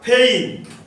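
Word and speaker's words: feign: এবার 5 নম্বর রুলে ওয়ার্ডের শেষে আই জি এন থাকলে তার উচ্চারণ আই ইন হয়, আইন হয়ে যায়। এই ক্ষেত্রে জির অনুচ্চারিত হয়ে থাকে। তাহলে আমরা কি ফেইন, তার মানে কি জির উচ্চারণ করলাম না, তাহলে ফেইস বললাম না, কি বললাম ফেইন।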